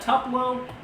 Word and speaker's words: Tupelo: How do you pronounce that? Is that Tupelo?